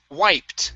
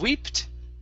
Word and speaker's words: wiped: dumb okay the b is silent we don't pronounce it dumb okay okay very nice uh next up is wiped instead of weeped okay it's wiped white okay very nice now